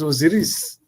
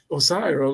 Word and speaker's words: Osiris: This is Osiris, Osiris, or, or, whatever pronunciation you want.